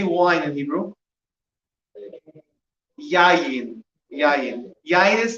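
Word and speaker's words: יין: Yayin. Yayin. Yayin is spelled, it's 3 letters.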